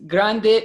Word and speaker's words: Grande: okay the rio grande grande its grande is let's say Spanish or Mexico let's say pronunciation grant is English the real grant the